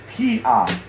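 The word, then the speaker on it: 기아: the NG sound, but right here it's silent because whenever it holds the first position, it's silent. So we don't even pronounce that. We just go straight to the vowel, which is right here, ah, Kia, Kia.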